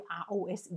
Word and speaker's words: rose: 好，但是我不敢讲百分之百。rose 玫瑰 R O S E 也是念子的音。rose rose rose 有没有？